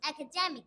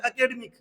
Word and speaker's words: academic: हम क्या बोलते हैं, लगभग इंडिया में बोला जाता है एकेडमिक, यही सुना होगा आपने, और उसका रियल प्रोनाउंसिएशन फिर करके दिखाओ बेटा आपको। Academic.